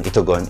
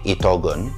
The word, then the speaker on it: Itogon: At ang pangatlo, ang pagsabi ni Miss Glenda ng Itokon, which is a little bit funny, pero ang pag-pronounce po ng Itokon is actually Itogon, and that's the basic pronunciation.